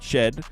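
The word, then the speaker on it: Shead: to mention Jamal shed I'm saying it right shed um he's not playing so in addition to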